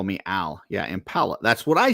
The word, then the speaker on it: Impala: He's saying like Darla is saying it's impala like like the word like the name Paula, like a girl with an M in front of impala.